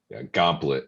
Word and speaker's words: gomplate: Yeah, I think Gauntlet is how Jason pronounces it. Yeah, it's a play on Go template, so they just took T off Go template, so Gauntlet.